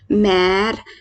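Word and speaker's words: mère: जैसे एग्जाम्पल है हमारा मैर। मैर मैं कैसे पढ़ रही हूँ, पहले तो मैं आपको मैर का मतलब बताती हूँ। मैर को इंग्लिश में बोलते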